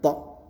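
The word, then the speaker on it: طاء: Nah, tapi kalau ini th di dalam ya dengan bentuk mulutnya bulat tho.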